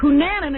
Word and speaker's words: Cunanan: I was saying Coonanan until these California reporters say the correct pronunciation was Coonanan.